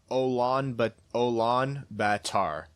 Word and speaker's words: Ulaanbaatar: He says, good effort on pronouncing Mongolia's capital last week. It's not an easy one. Maybe this will help. Ulaanbaatar.